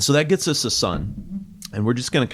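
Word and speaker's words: Sunn O))): It's pronounced sun. I've I've heard Stephen Ali kind of talk about it in some interviews. It's not Sun O or or whatever.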